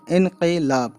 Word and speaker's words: انقلاب: یہ لیا گیا ہے عربک ورڈ سے اردو میں آیا ہے، یہ ہے نا انقلاب۔ انقلاب اصل ورڈ کا تلفظ ہے انقلاب، ٹھیک ہے، جس کا